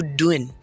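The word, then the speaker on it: doing: हम लोग जब भी कहते हैं हाउ आर यू डूइंग, हम इतना ज़ोर डूइंग पे दे देते हैं कि हमें पता ही नहीं होता कि हमने करना क्या है। अब हम ऐसे बोलेंगे कि हाउ आर यू डूइंग। सही है, डूइंग का जी जो है वो साइलेंट रहेगा।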